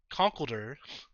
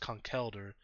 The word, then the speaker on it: Conkeldurr: And then we like to name this Pokemon Conkeldurr. But I'm pretty sure it's pronounced Conkeldurr.